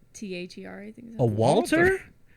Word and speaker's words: Walther: WALTHER. I think. A Walter? Walther. There's an H in there. Yeah, Oh, there's an. It's just H in spelled like you have peanut butter in your mouth.